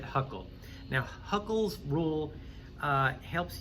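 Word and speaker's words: Hückel: succinctly here okay so technically he's uh huckle right but i just pronounce it huckle now huckles rule uh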